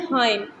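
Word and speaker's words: hymn: Next word है हाइम. यहाँ पे एन साइलेंट है और बाकी जितने भी इस लिस्ट में राइट करेंगे उन सब में एन साइलेंट होगा.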